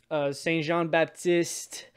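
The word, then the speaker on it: Saint-Jean-Baptiste: So in June, in Quebec, we celebrate a holiday called Saint Jean Baptiste.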